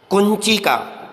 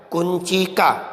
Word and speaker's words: कुंचिका: बोलते हैं थालिका थाली कुंचिका ध्यान से सुनिए इसका उच्चारण थोड़ा अलग है कुंचिका अर्थात चाबी शटका साड़ी